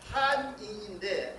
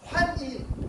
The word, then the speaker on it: 환인: 그렇게 써서 바꿔놓는데 다시 또 일본 사람이 들어와서 환인이라고 해서 우리가 환인이라고 읽잖아요. 그거를 한인인데 한자예요.